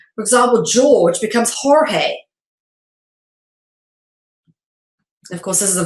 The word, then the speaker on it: Jorge: In the Spanish language, letter G is often replaced by the J and pronounced with an H. For example, George becomes Jorge.